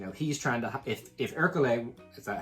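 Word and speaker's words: Ercole: Whereas, you know, he's trying to, if Hercule, is that how you say it?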